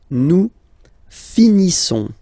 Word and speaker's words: finissons: Nous finissons. Okay, ISSONS. Issons. Nous finissons. Finissons. Okay, final S not pronounced.